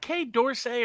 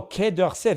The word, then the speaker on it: Quai d'Orsay: It's is it Quai d'Orsay or Quai d'Orsay? Oh, Quai d'Orsay, that's French.